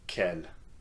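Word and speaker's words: quel: So Kel is going to be quite easy for you guys to use because the four forms of K are pronounced the same way. Okay, just ke and here are some useful questions you can ask someone using kel.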